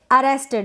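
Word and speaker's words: arrested: Next है अरेस्टेड, इसको हम अरेस्टेड पढ़ रहे हैं।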